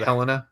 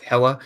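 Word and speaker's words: Hela: again mispronounced something yeah you said Helena it's hella I preview for Thursday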